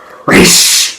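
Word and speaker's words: Ra's al Ghul: Raish. Yeah. It's pronounced Raish, guys. Come on. Even in Batman Beyond, they mention it.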